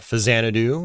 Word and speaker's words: Faxanadu: You got Fazanadu, or Faxanadu. I like pronouncing it Faxanadu.